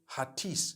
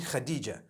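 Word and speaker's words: Hatice: across the name Khadijah in Turkish some people spell it h a t i c e I would say hatis for that no it's actually Khadijah in Turkish that's the way they write it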